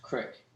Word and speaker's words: creek: water flow through ultimately that all right it's pronounced crick whatever anyway so this crick running through the